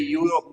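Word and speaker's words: Europe: और क्यों ए लगेगा क्योंकि हम बोलते हैं यूरोप मतलब कि हम प्रोनाउंस वाई करते हैं य ओके यूरोप ऐसा बोलते हैं ओके मतलब कि आगे जो ई आया है उसका यहां पे कोई इंपोर्टेंस है नहीं ओके वो भले ही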